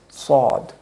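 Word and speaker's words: ص: Okay, this letter is Sod, with very bold S sound.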